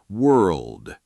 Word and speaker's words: world: The actual trick is that the R and L blend together fast, almost like one continuous motion of the tongue, not 2 separate sounds happening one after another. World. The tongue starts shaping for the R and rolls straight into the L position without a full stop or pause between them.